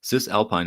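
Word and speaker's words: Cisalpine: Uh, Sis Alpine is spelled like cisgender uh with alpine at the end. Cis Alpine had been had been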